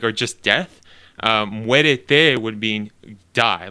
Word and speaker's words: muérete: I heard two syllables, not three. Muérete. Muérete is die. Muerte is death.